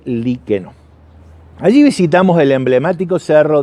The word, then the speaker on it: Liqueno: escuela de Padre liqueno yo por ahí en el video original lo pronunciaba como liqueño porque la cartelería del gobierno de la provincia de Córdoba en la ruta dice liqueño pero en realidad por los lugareños supe que se trata de liqueno allí visitamos el emblemático